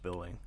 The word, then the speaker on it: Byllynge: and its validity endangered Edward billing billing it's pronounced billing and it's spell it a million different ways